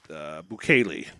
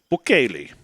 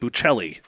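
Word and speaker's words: Buchelli: Bukele. Bukele. Although, of course, Gabe keeps on insisting calling it Bucelli, even though that's not how it's pronounced.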